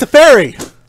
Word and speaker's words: Teferi: It's pronounced Teferi! See, it's always going to be Teferi when Jake's here. It's perfect. And so he's drawn. He also gets to untap 2 lands, so he basically just gets free mana. Oh my god, pronounced Teferi. For those of you who don't know, Jake's very specific on how you pronounce Teferi. It's not me who's specific. It's Wizards of the Coast.